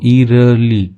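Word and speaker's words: eerily: the forest was इरली, ठीक है, इसको इरली पढ़ते हैं, ठीक है, तो जो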